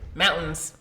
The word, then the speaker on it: mountains: Mountains. You don't pronounce the T. Mountains. Nobody pronounces the T.